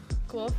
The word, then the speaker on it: Guelph: Guelph is like, the name is spelt like how you would react when you get to Guelph.